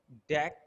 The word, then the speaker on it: deque: we we pronounce it as a DAC and sometimes as a DQ also.